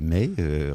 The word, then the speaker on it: Maï: Je veux parler de Rebecca May. Rebecca, bonjour. Bonjour, Rebecca May. May, excusez-moi, mais comme ça s'écrit comme le mois de mai et qu'en mai Oui.